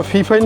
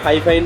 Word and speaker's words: Fifine: সিক্স ফাইভ eight আচ্ছা আপনারা ফি ফাইন বলেন না ফাইভ ফাই বলেন এটা আসলে উচ্চতারণ কোন ভুল নাই অনেকে ফাইফাইন বলে অনেকে ফিফাইন হ্যাঁ ফিফাইনটাই উচ্চারণ করে ফিফাইন যাই হোক ফাইফাইন এটা